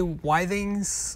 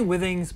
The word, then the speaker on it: Withings: how you say it people say why things some people say with things I say Withings but the winning xacti